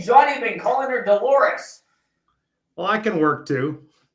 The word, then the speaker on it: Dolores: Yeah, Dolores. Yeah. We couldn't remember it rhymes with the human body part.